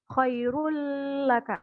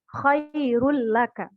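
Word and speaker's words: خَيْرٌ: Khoirul laka Khoirul laka jadi jangan didengungkan Khairul itu salah tapi dibacanya ya Khoirul seperti itu sampai di sini ada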